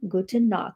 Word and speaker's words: Gute Nacht: Gute Nacht.